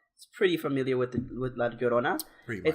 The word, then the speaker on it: Llorona: And La Llorona, pronounce yo like yo-yo, right? Yeah. Double L, so it's the Y sound in English, Llorona.